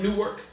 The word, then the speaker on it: Newark: In Newark, it's pronounced Newark.